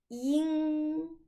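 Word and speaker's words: 鹰: On prononce yin. Attention à la prononciation.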